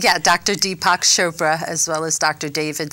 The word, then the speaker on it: Chopra: some incredible people you have studied with Deepak chopa did I pronounce his name right yeah Dr Deepak Chopra as well as Dr David Simon the co-founders